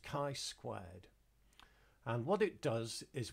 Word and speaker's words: chi-squared: the test is called a chi-square test it's pronounced chi-squared and what it does is we are testing